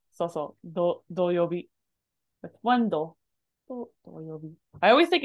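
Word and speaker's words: 土曜日: Doyobi is short. Hi, doyobi. It's a curse of English. We want to put that stress on the first syllable, so we make it into a long mora. And it's not long.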